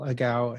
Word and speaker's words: Agawa: Think of a cow, but say a gal. A ga. Yeah. Uh, my name is Agawa and I live at uh 8543 Blue Heaven Lane.